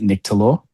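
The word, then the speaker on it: Nyctalops: I pronounce it Nyctolops. Nyctolops.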